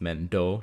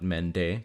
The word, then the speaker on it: Mendo: Jifuti and Mendo, who we now know is pronounced Mendo, not Mende, because of the Reverse Collapse trailer.